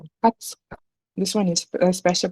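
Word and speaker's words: 二十日: It's not niju. It's not niju, but it is hatsuka. 20 日。 Hatsuka.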